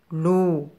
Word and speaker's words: loup: L avec le son ou se prononce loup. Loup.